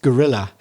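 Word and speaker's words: guerrilla: oh G okay but in English pronounced gorilla the same pronunciation as the animal but different spelling you got the same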